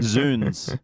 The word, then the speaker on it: zounds: Like zounds and hootenanny. Zoons. Zoons. Because it's God's wounds. Oh, is that what that Zoons. means? But Ned does pronounce it as zounds.